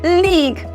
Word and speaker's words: league: Now, my UE is not transcribed because my word league is not pronounced as league. My word UE is word absent, and therefore in the transcription, not word pronounced or transcribe my word UE. We have the league.